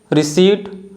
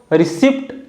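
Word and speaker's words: receipt: हैं third one है रिसीप्ट तो कुछ लोग इसको रिसीप्ट बोलते हैं जो कि रंग प्रोनंसिएशन है इसका करेक्ट प्रोनंसिएशन है रिसी फोर्थ वन है टोमेन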